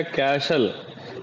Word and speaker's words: castle: तो इसमें T silent होता है, आप इस बात का ध्यान रखिए, समझ गए। आस्था एक कैटल नहीं लिखा हुआ है, लिखा हुआ है CASTLE, टी साइलेंट, ये हो गया कैशल।